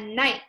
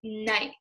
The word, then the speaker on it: knight: And then on the right, you'll see a knight, like a knight in shining armor. And that is spelled K-N-I-G-H-T. And that K is actually silent because we don't hear k night, right? We just hear night.